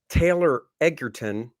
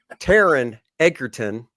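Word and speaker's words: Taron Egerton: villain which is awesome it is and uh Taylor ederton I probably pronounced it wrong Taran Taran ederton uh he did such a good job masking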